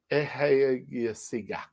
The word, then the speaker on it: Ekasiga: They're from Ekasiga. That's how you pronounce it. Ekasiga.